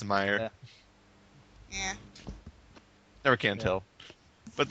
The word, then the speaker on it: Meyer: say they thinking um I say it as Meer I've heard Meer mayor there's all sorts of weird pronunciations going around but I think it's Meer yeah never can't tell